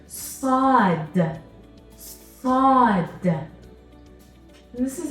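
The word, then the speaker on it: ص: Now, when I'm pronouncing the sound sa in the letter sod, what am I doing to my mouth? Sa, sa. You can't see my teeth. My mouth isn't opening. I'm not smiling.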